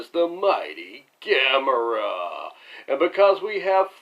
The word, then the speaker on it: Gamera: Gamera, pronounced like camera but spelled differently, is a 1965 Japanese monster flick originally shown on MST3K's Season K.